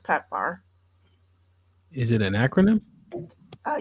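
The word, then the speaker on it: PEPFAR: rely on per PF program for medications it's pronounced pepar is it an acronym uh yes acronyms don't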